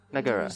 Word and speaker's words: Megara: We each have our commitments to this house, Megara. Megara. No okay, that's how it's pronounced.